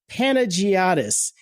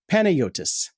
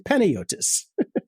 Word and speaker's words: Panagiotis: And to be honest, his name is spelled Panagiotis. Panagiotis is kind of how I read that. But I looked it up. It's Greek, and it is pronounced Panayotis. So sorry, Panos. It's Panayotis.